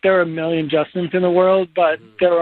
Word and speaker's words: JSTN: It's Justin, but it is spelled JSTN. All cap.